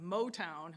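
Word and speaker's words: Moe Town: There's also a blues bash at this place called Motown. It's spelled M-O-E, Town, in Addison, which is down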